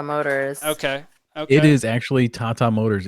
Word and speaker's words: Tata Motors: might be tata motors okay it is actually tata motors it's an indian company okay gotcha gotcha all